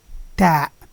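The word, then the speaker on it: ت: Then we have the letter Ta. Ta. And Ta is very close to the one that we use in English, as in 10.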